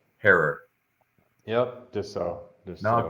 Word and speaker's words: Herer: yeah um uh Jack would always say it's pronounced heror herror yep just so just so no good thank